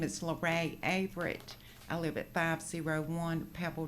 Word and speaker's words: Averitt: Avert. Avert. Did I pronounce that correctly? Averett.